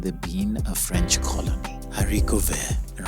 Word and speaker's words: haricot vert: Haricot vert rhymes with Marine Serre, a French label that colonizes second-hand clothes, upcycling them to make up 50% of the brand's collections.